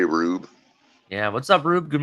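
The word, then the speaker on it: Roub: how you doing um how do you say this color r-o-u-b rube what's up bro what r-o-u-b yeah I'd say rube yeah what's up rube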